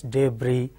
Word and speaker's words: debris: is has precis s the final s is silent in French that the convention is that the last final s if not succeeded by a wobble sound it is silent just like debris GE BR is debris chass is chassis like this